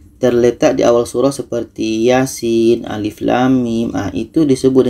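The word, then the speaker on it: يس: dan yang di sini Yasin ayat 1 karena ini sudah biasa maka kita jarang yang salah kalau ada yang baca Yasa itu salah karena harus dibaca satu-satu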